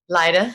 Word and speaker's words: Lida: lida yeah and then how do you say that lighter lighter wow yeah i guess because they say like that so then i say